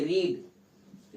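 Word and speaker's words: read: you have अब देखो पढ़ चुके रीड रीड का मतलब होता है पढ़ना रीड और इसको भी स्पेलिंग सेम रहती है लेकिन इसको पढ़ते हैं रेड सेकंड फॉर्म और थर्ड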